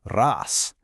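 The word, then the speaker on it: رأس: Our first word is ras. This is the word for head. The first sound is a rolled r.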